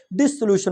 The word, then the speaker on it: dissolution: और माजरत के साथ यहाँ पे क्लियर कर दूँ, अक्सर बोला जाता है डेसोल्यूशन ऑफ मैरिज। डेसोल्यूशन ऑफ मैरिज नहीं होता बल्कि डिसोल्यूशन ऑफ मैरिज है। डेसोल्यूशन प्रोनाउंसिएशन ही गलत है बाय द वे जी।